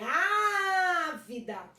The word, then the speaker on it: ávida: E na antepenúltima, ávida, não é a última nem a penúltima, é a antepenúltima.